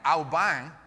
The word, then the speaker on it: Alban: the Saint Alban and just in case you thought you knew how to pronounce Alban uh you don't uh Alban is the nasalized medieval French way that you would have said this um how fun is